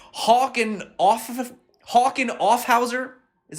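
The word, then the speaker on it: Hauck Aufhäuser: going to butcher this name hawking off of hawken offhauser is how you say it one of germany's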